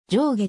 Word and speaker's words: 定義: は非常に稀仙台弁の発音特性から定義は上下と発音し住所の小技も